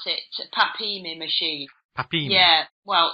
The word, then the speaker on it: PAPIMI: Yes, you pronounce it PAPIMI machine.